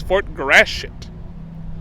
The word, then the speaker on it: Fort Gratiot: Today, we're at Fort Gratiot. I'm going to overpronounce it. Everyone says Fort Gratiot. That sounds like I'm cussing.